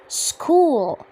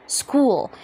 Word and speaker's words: school: لما قلت كلمة school ال H اللي فيها كان silent. يعني ايه silent؟ يعني اكتبه منطقهوش، والسي هنا اتنطقت ك، عشان كده قلت school. school. Welcome to my school.